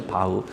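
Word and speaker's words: Bach: 저기 세계적인 음악과 바하 바흐라 그러죠? 바흐. 저는 뭐 옛날에 그냥 바바하바 그랬는데 좀 이렇게 알고 보니까 바흐라고 발음하는게 맞더라고요.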